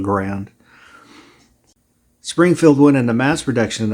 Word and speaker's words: Garand: I think it's pronounced Garand, but everybody calls the rifle a Grand.